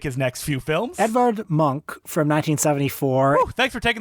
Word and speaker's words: Munch: Europe to make his next few films Edward monk from 1974 thanks for taking that bullet of saying his name before I said Munch while talking about this I know I know I I always pronounced it Munch too I thought it was like Robert Munch